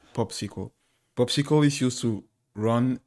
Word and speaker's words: PopSQL: we are going to install an editor called popsicle popsicle is used to run and write queries so the name is popsql and it's pronounced popsql like a popsql so you know my SQL